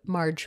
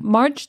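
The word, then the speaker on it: Margg: Valak has assigned Marge. Marge. That's how I read it. Is that how you read Marge. It? Marge. Marge. It's even spelled like M-A-R-G-G. Yeah. So like aggressive G sound at the end.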